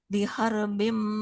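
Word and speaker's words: بحرب: Nah, kalau ada huruf ro sukun sebelumnya fathah, berarti ro-nya Tebal. tebal ya. Fa illam taf'alu fa'zanu biharbim minallah. Coba Ibu ulang. Fa illam taf'alu fa'dhanu bihar biharbim minallahi biharbim minallahi wa rasulih.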